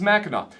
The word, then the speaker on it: Mackinac: Angeles see bacchanal island ends with a W like it probably should be spelled but this is Mackinac this one is my